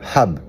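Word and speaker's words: حَبّ: Par contre, si vous connaissez bien l'arabe, vous savez que c'est le même mot que hab. Ça s'écrit pareil. Simplement que ça se prononce pas pareil.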